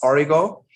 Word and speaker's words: Origo: And I kind of say it's like Oreo with a G. It's Origo.